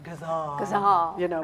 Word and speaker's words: ghazal: it because I've never tried to write a ghazal before, which the way you're pronouncing it, it's so glad to hear it actually pronounced because It's like, it's actually supposed to be more like ghazal, like that.